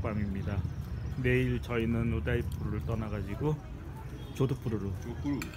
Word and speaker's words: 조드푸르: 내일 저희는 우다이푸르를 떠나가지고 조드푸르로 조푸르 갑니다. 조푸 어감이 좀 그렇지만 조푸 잘해야 될 발음 조드푸르 조드푸르 식사하시네요 또 식사하시네요 또 매네요 식사하시네요 먹고 노는 게 일이죠 뭐 좋은 저녁 되세요.